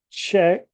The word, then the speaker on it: Czech: this one is the check Republic the Czech Republic okay this one is